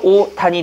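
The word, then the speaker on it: 옷 안: 그래서 오단이 되는 겁니다. 근데 여러분은 오단이라고 발음 안 하고 뭐라고 발음하죠? 옷안이라고 발음하죠. 한번 발음해보세요. 오단. 야, 오단에 있어. 이러잖아요. 근데 정확한 오단에 있어. 연음을 시키셔야 됩니다.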